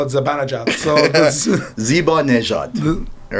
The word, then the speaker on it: Zibanejad: Thank God you pronounced it correctly, because I call it Zibanejad. So Zibanejad, all right?